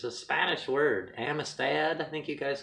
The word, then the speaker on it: amistad: to me but um ami stoth that's how you pronounce it in spain i'm not it's a spanish word amistad i think you guys